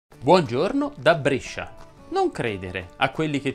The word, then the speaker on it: Brescia: non sono a brescia ma brescia si pronuncia con la è chiusa e perciò quest'estate vieni